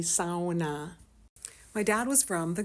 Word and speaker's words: sauna: up taking family SAS that's right people that's how you pronounce the word properly SAA my dad was from